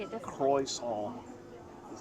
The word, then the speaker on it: croissant: Croissant. How do I say it differently? Croissant is how you say it.